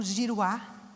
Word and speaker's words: Juruá: do livro dele né o Juruá que é o homem branco né o Giruá que seria na pronúncia correta ele desmata ele tira